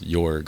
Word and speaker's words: Jörg: I pronounced it George earlier because I wasn't sure. It's Jorg, okay.